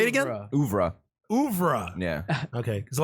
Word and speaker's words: oeuvre: oeuvre is Oeuvre. generally horror. and then Yeah. I also considered, but I didn't put it on the list Oh, is that how you pronounce it? Say it again. Oeuvre.